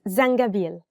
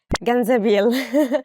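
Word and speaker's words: زنجبيل: zangabil is it yeah it's zangabiel ginger and sometimes people mistake it for ganzaville so please don't make this mistake yeah it's thank you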